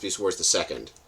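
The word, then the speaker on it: Beast Wars II: They pronounced Beast Wars the Second.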